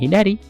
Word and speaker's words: 左: Artinya kiri, kunyominya hidari, onyominya sa.